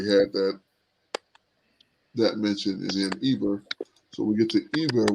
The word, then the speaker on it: Eber: Let's see how they pronounce it. Strong's H 5677. Aver.